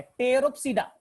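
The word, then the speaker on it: Pteropsida: P4 बेटा टेरोप्सीडा, P यहां पर साइलेंट है, टेरोप्सीडा, PTE टेरोप्सीडा, लाइकोप्सीडा, और है बेटा स्फेनोप्सीडा।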